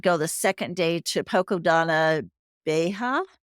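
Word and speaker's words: Poça da Dona Beija: So we did go the second day to Poco Donna Beja. Is that how you pronounce it, Alex? I would say Poca Donna Vieja.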